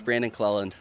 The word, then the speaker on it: Brandon Clellan: You get called Clellan, but what is the correct pronunciation? It's Brandon Clellan. Brandon Clellan.